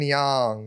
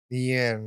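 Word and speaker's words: Yeun: __ ] uh exactly Stephen young is that his name Yen oh you said it wrong again yen Steph Yen Steven's hens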